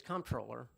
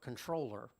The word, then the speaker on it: comptroller: officer is the state's comptroller or controller depending on how you want to pronounce it i said that for